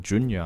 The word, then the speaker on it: Jun: there so my f name is like Jun that's how you pronounce it if you're wondering but